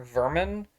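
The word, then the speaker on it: Werman: Mormon his name is spelled with W Sports pronounced vermer Vermin which is hilarious he's a puppet boss he's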